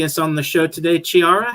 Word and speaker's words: Chiara: they pronounce my name, they think of the CH as a ch sound. But okay. I am from an Italian background, so it's a K sound. It's Chiara. Chiara.